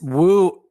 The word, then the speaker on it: Wu: is my given name it is is woo like in Italy where they have names based